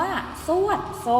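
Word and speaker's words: ทรวดทรง: ไป มี คำ ว่า ทรวด ทรง ทร ทรวด ทร ออก เสียง เป็น ซอโซ่ นะ คะ เรา ไม่ ได้ อ่าน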